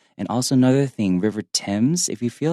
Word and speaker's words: Thames: And also another thing, River Thames, if you feel like that's really difficult to pronounce, just think of it like the name, T-I-M, and just adding an S.